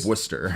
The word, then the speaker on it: Worcester: something wild and then Worcester 14 letters in the name and you pronounce two of them uh Worcester because we